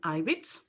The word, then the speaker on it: Ibitz: for having me uh my name is ivitz it's pronounced like on the on the first letter